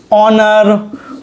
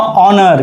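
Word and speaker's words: honour: तो क्या लिखा है यहाँ पर आपका, ऑनर। क्या लिखा है यहाँ पर आपका, ऑनर। तो यहाँ पर एच है साइलेंट, शुरुआत है ओ से, तो यहाँ भी क्या जाएगा, एन आ जाएगा।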